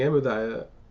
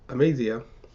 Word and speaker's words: Amaziah: Joad said of Israel sent word the king amadiah of Judas and uh I made the eye it's amazia of judah's hand that this that was 11